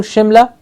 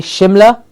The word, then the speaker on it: Shimla: India during British rule Shimla as h-i-m la Shimla an island nation and